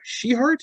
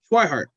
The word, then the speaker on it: Schweinhardt: was the story of keith uh she heart is that how you say it it's white heart schweinhardt my apologies um his